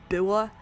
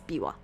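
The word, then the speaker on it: Biwa: i wa instead um I think they spelled it this way so that the westerners playing this would know how to pronounce it instead of bua it's Bawa uh you certainly seem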